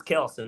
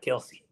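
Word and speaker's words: Kelce: from there even though his name is really pronounced Denzel. Same thing with the Kelsey brothers. Their last name is Kelsey, not Kelsey.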